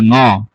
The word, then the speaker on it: ঙ: ঙ এর মতো উচ্চারণ করতে হয়, এটা উঁ হবে না। ঠিক আছে, আমরা উঁ উচ্চারণটা আসলে ভুল বলি, উঁটা হবে না। আপনার ঠোঁট কখনো বাঁকা হবে না, ঠোঁট কখনো গোলাকার হবে না। এটাকে একই স্টাইলে পড়তে হবে, ক খ গ ঘ ঙ।